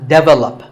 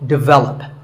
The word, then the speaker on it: develop: This is pronounced wrongly by many learners of English as develop. But the first syllable is actually de, and the stress is on the second syllable. So, develop.